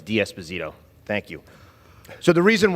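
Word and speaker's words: D'Esposito: you uh Mr Nadler the correct pronunciation of my last name is DS bazito thank you so the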